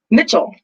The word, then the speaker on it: Mitchell: of behind the curve what is the correct pronunciation of your last name mitchell oh i thought it was your instagram handle